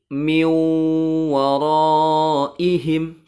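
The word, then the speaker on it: مِنْ وَرَائِهِمْ: Awas jangan dibaca min ya. Tapi dibacanya menjadi miu waraihim. Kenapa harus dibaca miu? Nun sukunnya karena nun sukun bertemu dengan huruf wawu. Nun sukunnya dimasukkan ke huruf wawu dan ditahan 3 harokat suaranya. Miu waraihim.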